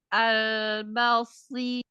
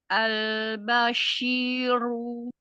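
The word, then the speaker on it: البشير: ashadu ihsan albasiru Eh, albasin albasyiru. Nah, pakai syin ya tipis. Albasyiru. Albasyiru namam syinya kan gak bertasdid nih, Umi. Maka bacanya enggak boleh gini. Basyiru. Ambil syin-nya jangan terlalu lama ba.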